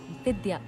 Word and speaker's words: विद्या: नहीं, विद्या, वी, नॉट अ बी।